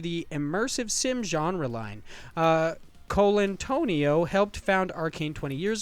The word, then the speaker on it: Colantonio: I'm just waiting to hear his name actually pronounced by somebody, and it's totally not that. It's like Colantonio.